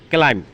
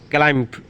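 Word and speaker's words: climb: বেশিরভাগ ওয়ার্ড এর এম এর পরে বি থাকলে বি উচ্চারিত হয় না। ক্লাইম, আরোহণ করা বা ওঠা। ক্লাইম্ব না, ক্লাইম মানে বি উচ্চারণ লাগবে না।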